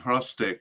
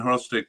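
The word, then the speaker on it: Hrustić: um actually uh Aiden frostick I I think I've been pronouncing his name wrong uh Aiden horstick did play in that uh uh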